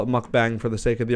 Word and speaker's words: mukbang: I listened to the pronunciation on the computer a few times so I could say it right. Mukbang.